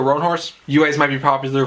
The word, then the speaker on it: Roanhorse: sixth world series by rebecca roan house i think that's how you pronounce it sorry wrong horse rebecca roanhorse you guys might be